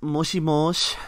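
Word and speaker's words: もしもし: that but uh okay next is moshimosh which is how you answer the phone if somebody calls you or calls you online or on discord in japan uh it's it's written moshi moshi right and there's a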